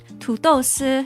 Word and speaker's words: 土豆丝: 土豆丝 is how it's pronounced.